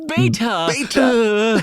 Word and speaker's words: beta: He He MAKES IT TWO VERY clear syllables. It's not beta like every other American says. It's beta.